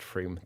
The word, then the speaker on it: Frome: Okay, Frome isn't Somerset, pronounced Froome.